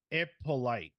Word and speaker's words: Hippolyte: It's pronounced Ippolite.